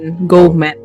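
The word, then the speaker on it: GoMed: Faith section di gomet gomet diberkahi dalam gojek jadi go m.ed kayak Med gomet bacanya itu ada vaksinasi juga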